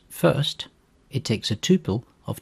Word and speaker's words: fst: is the FST function which is pronounced first it takes a tuple